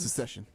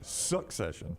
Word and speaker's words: Succession: starting the series um the way Dunaway pronounces it it's not about the Civil War it's secession secession succession succession succession he's got a C in it secession is like what